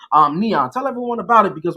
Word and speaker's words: NIAN: So not to correct you or anything, but the way that you pronounce it is NIAN. NIAN.